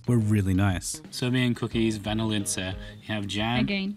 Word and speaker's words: vanilice: Also, these homemade Serbian cookies that I really struggled to pronounce were really nice. Serbian cookies, vanilice. You have jam. Again, vanilice.